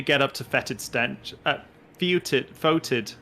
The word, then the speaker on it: foetid: Foetid stench, not fetid.